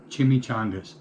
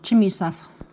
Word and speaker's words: chimichanga: Beef and corn chimichangas. Don't ask Kelly to pronounce chimichanga. Nope, chimney stuff.